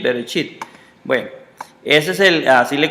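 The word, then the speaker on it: בראשית: esto se lee como, y esto se lee como chi, y esto es una T, chit, berechit, como viene acá, chit, berechit, así la pronuncian ellos, berechit.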